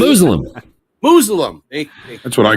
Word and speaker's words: Musalem: I'm not want to say Musalem, but how do I pronounce it? Musalem.